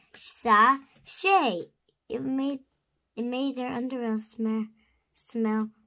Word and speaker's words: sachet: You say it like this, sachet.